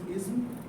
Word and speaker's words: ism: is ISM uh ISM it is ISM the S is short is not uh i z h u m so uh should pronounce